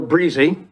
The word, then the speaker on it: Brzee: Yes, my name is Breezy. Brzee was my grandfather's way of pronouncing it when he was in Holland.